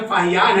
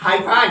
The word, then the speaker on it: फाहियान: और मेरा नाम फाहियान है और ना कि हाईफान।